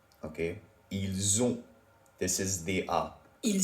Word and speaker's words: ils ont: Can you hear how there is a Z sound in ils ont, elles ont, which is they have, and an S sound in ils sont, elles sont, they are?